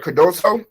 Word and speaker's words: Cardoso: Cardoso? Am I pronouncing it right?